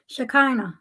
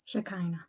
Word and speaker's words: Shekinah: pronunciation of your name shakina just like you you've heard shakina Glory it means in Hebrew one who holds the vessel of the feminine divine God's Essence on Earth shakana shakina yes okay so ladies